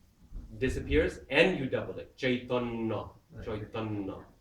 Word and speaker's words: Chaitanya: Take the first syllable and you double it. Actually, you add an aspiration as well. Parikshit. Parikshit. Chaitanya, Chaitanya.